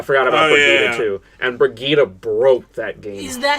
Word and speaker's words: Brigitte: And Brigitte broke that game. Is that how you pronounce that name? Yeah. It's not Bridget? No, it's Brigitte. I always thought it was Bridget, I'm not going to lie.